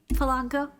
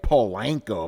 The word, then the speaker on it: Polanco: you by the way thank you for um pronouncing my last name right people seem to get a like a problem with it like Paul lanco I'm like what the